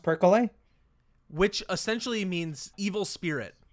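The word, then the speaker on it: perkele: one showed up on that list and it's percolate purple that's what I said the first one is pronounced percole which essentially means evil spirit or the devil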